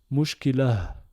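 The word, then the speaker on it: مشكلة: Ça nous donne le mot mushkilatun. D'accord? Et maintenant, imaginons que mushkilatun est le dernier mot d'un verset, par exemple. Eh ben, on va le prononcer mushkilah. D'accord? Mushkilah. H expiré sans voyelle.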